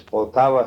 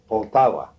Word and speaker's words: Poltava: name of the town yeah lofts can you spell that i think it's a l-o-f-i-c-h office it's potawa state what state poltava poltava state and my father was a grain